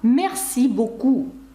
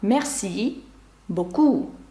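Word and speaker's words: merci beaucoup: ту ж саму фразу месі буку Ви чуєте що завжди наголос падає на останній склад месі боку інші французькі слова які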